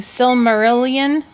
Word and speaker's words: Silmarillion: that how do you say that word honey Silmarillion so Silmarillion and the Lord of the Rings